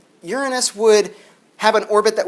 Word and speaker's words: Uranus: In 1821, it was discovered that the planet Uranus, it's pronounced Uranus, from Uranos, meaning the over heavens. Anos actually means also like a ring, which is the same as anus, so it is.